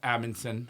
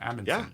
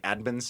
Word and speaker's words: Amundson: I had trouble pronouncing people put the D in a weird spot they say like adinon yeah I don't say